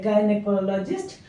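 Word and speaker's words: gynaecologist: सही जो होती है गायनेकोलॉजिस्ट गाय से बोलकर देखिए गाई मत बोलिएगा गाय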